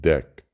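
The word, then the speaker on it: Deque: This is not the queue, it is pronounced deck.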